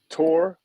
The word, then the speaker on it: Torwudzo: It's Torwudzo. Yep. Torwudzo, man. Appreciate you, man.